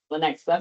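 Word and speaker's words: Lenexa: Am I pronouncing that right? Lanexa Lanexa Kansas Police Department where she served as the chief of police from 2020 to 2025.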